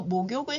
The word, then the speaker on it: 목욕을: 하다라는 표현을 사용합니다 그래서 목욕을 하다와 샤워를 하다는 조금 구별되지요 목욕에서는이 목욕의 기억이 뒤에 이응 자리로 옮겨가면서 발음이 목욕을 이렇게 발음이 됩니다 제가 두 번씩 읽어